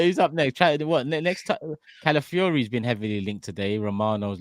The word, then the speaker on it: Calafiori: Calafiori's been heavily linked today.